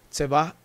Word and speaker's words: Tzevá: es va adonay y es la pronunciación se va y acá está el